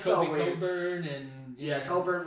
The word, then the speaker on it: Cockburn: Coburn and yeah, Coburn, but spelled like the other way. Cockburn, yeah.